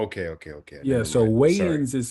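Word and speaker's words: Wayans: So, weighins is spelled W A Y A N S.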